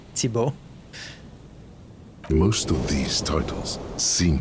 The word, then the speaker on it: Thibault: Okay, that said Thibault, by the way. I know it sounds like there's a lot of letters to pronounce, but it's really just Thibault.